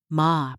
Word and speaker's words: ma: Ma, pronounced ma is the intentional empty space in Japanese aesthetics.